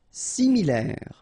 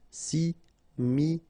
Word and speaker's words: similaire: Similaire. Final E not pronounced. Similaire.